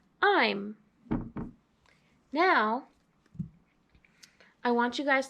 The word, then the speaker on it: -ime: like we said earlier this ending has be long I so I the long I makes the e the magic e where it is silent so you don't hear the e so that's why this ending is pronounced I'm now I want you